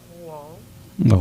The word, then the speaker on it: Rouen: So I played in France for Rouen. Okay. That's how you pronounce it.